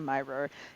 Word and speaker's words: Mirer: Facebook is Dr myor it's uh and pronounced like a secret admirer just Lop off that first syllable amazing all right well